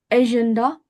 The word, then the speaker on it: agenda: मोने, monnaie वे, a agenda agenda. agenda Of français, we have a proper A sound.